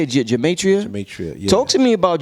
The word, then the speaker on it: Gematria: Gematria.